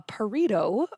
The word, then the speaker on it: Pareto: of before but a Pareto burrito um is pronounced like a burrito but with a p a burrito chart also